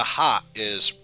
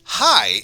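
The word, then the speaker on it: はい: to pronounce it properly this word sounds like hi or hi however remember how e sounds like e the word hai is actually pronounced but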